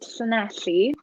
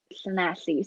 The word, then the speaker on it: Llanelli: I'm from a town called Llanelli. And no, I do not have a speech impediment. That is how you say it. It's double L in Welsh makes the sound, so it's Llanelli.